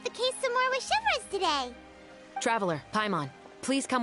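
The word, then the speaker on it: Chevreuse: So, Chevres, why did you take us here? Chevres. That's how you Affirmative.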